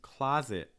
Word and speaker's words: closet: tv last couple words closet again ah sound ah in american english claw like and stop claw closet mouth wide back tongue down front tongue down the entry will be